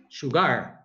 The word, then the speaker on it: sugar: do where is the where is the stress in the first or the second syllable i said second sugar oh no it's on the first okay i'm just asking um